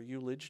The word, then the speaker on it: ullage: Now, ullage, or eulage, depending on how you pronounce that, is the amount of headspace on the bulk storage tank that can't be filled with fuel.